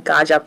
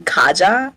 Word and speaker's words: Gaja: Kaja first gaja versus I saw in the previous matches they were pretty concerned about us not pronouncing gaja properly properly they they thought that we were saying Kaja so I wanted to